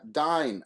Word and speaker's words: Dyn: they have what's called the uh dyne attack okay the dying attack uh brought down uh the systems of dyn that's spelled d-y-n and this is a